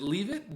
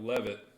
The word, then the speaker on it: Levitt: Is it leave it? leave it? Levitt. Levitt.